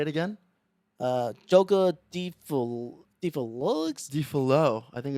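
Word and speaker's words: Folie à Deux: I think the X is silent. Say it again. Joker Deluxe. Defalo.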